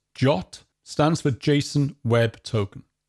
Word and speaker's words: JWT: JWT, that we pronounce as JOT, stands for JSON Web Token.